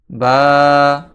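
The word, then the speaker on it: ب: দ্বিতীয় হরফটি হচ্ছে বা। এই বা হরফটি দুই ঠোঁটের ভিজা জায়গা হইতে উচ্চারিত হয়। এই দুই ঠোঁট মিলিত থাকা অবস্থায় এর ভিজা স্থান থেকে বা, বা, বা উচ্চারিত হয়।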